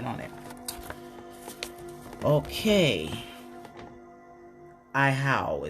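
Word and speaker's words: Ahau: Iowa. I'm not sure if I said that right. I'm going to figure it out, though. 19. Right on it. Okay. Ihau is how it's pronounced.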